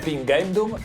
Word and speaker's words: pingendum: Cinghiale: Nota magna perfectiōnis, ad pingendum, dealbandum, colōrandum, ut ipse faciās, est semper pēniculus notae Cinghiale tibi auxiliō. You said instead of Did you notice?